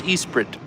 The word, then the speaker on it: Esprit: that the Lotus Esprit I'm going to say it like a British ver person the Lotus Esprit tube Branch proves appearances